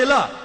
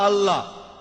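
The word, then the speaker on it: الله: ঠিকভাবে উচ্চারণ করলে আমরা বলবো আল্লাহ তারা বলে এলা সমস্যা নেই তবে সঠিক উচ্চারণ হলো আল্লাহ পরে যখন রেভারেল স্কটফিল্ড বুঝতে পারলেন যে তিনি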